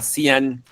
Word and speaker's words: Xi'an: De China salían de un lugar que se llamaba Xi'an con X se escribe, es donde están los famosos guerreros de terracota.